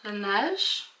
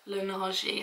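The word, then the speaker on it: Laneige: also got me the Lanette am I saying it right now I said it on Tik Tok the other day and I said like Luni and everyone was taking the Meck out of me it's because so many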